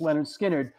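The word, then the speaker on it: Lynyrd Skynyrd: spirit just like we talked about Leonard skinnard pronounced Leonard skinnard there there was a certain ethos that was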